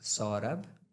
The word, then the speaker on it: Saurabh: But being from the southern part of India and like from Karnataka, this means Saurabha is sweet fragrance. Wow. Yeah. But it's easier to pronounce Saurabh. Like Saurabh.